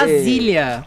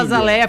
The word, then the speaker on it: Azaleia: É que na real pronuncia Azília. A gente fala Azaleia porque, né, a gente tá A verdade me dá Azília.